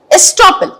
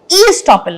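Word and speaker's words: estoppel: much point number two स्टॉपल देखिए शब्द ई लगा है लेकिन आप इसे ई स्टॉपल नहीं बोलेंगे ठीक है ई इ साइलेंट ओके तो इस केस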